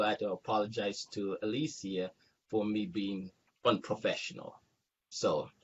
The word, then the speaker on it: Aleighcia: Because I'm here in America, it doesn't pronounce Aleighcia. How do you pronounce it the right and proper way? Aleighcia. Aleighcia. Mm-hmm.